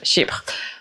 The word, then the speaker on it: Chypre: I don't know how do you say in English, but in French, Chypre.